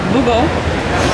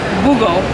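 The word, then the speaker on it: Bughuul: But since John had to leave, I got to meet Nick King, who is the boogeyman, Boogo. Mr. Boogie. Yeah, he's called Mr. Boogie. B-U-G-H-U-U-L, Boogo.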